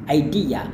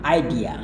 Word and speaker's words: idea: Anda bisa lafalkan dengan tekankan D-nya, idea. Tetapi bahkan ada yang idea. Nggak menjadi masalah ya, pilih salah satunya.